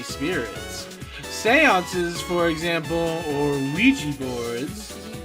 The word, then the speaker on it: Ouija: Seances, for example, or Ouija boards. I think you're supposed to pronounce that Ouija, but it's so common to say it Ouija that whatever.